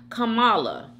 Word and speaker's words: Kamala: my God Jordan Hayward 2060 says Kamala is pronounced Kamala okay um Lesean 1901 says yummy bites hey